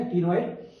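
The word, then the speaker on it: ctenoid: सी सी for cycloid या सी silent रहता है या टिनॉइड?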